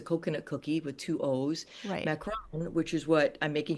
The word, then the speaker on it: macaron: It's just these these macaroons. Well, first, can you describe exactly what a macaroon is? A macaron.